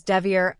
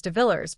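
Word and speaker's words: DeVilliers: Now some people insist on pronouncing Greg's name as Devier, and others simply say it as DeVillers, but we'll just call him Greg to keep it simple.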